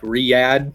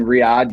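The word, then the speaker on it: Riyadh: uh did a deal with uh it's like Riad I think is how you say it or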